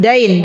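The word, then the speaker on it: الدَّين: Bagi teman-teman yang punya buku, tolong addin itu harakatnya dalnya fathah bukan kasrah. Dikasih harakat. Karena nanti kalau teman-teman bacanya wagabatiddin itu addin itu artinya agama. Beda ya. Adain itu hutang. Adin itu agama. Heeh. Dain. Dain itu hutang.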